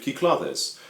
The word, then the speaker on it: Cyclades: my head is a copy of kiklates that's the pronunciation i looked up online hopefully that's correct i